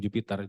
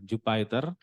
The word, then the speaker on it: Jupyter: Ada namanya Jupyter sebetulnya ya bacanya bukan Jupiter, Jupyter Notebook.